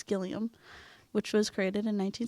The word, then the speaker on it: Gilliam: 2 by Sam gillium I think I said gallium before so I said it wrong it's gillium which was created in